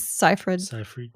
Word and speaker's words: Seyfried: Amanda Seyfried? Yes, Seyfried.